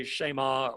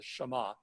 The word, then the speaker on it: Shema: the Shema right and you can say Shaima or whatever but usually in Hebrew the emphasis goes up on the last syllable so the Shema right here o Israel